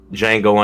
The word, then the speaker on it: Django: please what is it django unchained i've seen that no how do you spell that django unchained d i think you told me about the j n g o and the d is silent oh yeah you man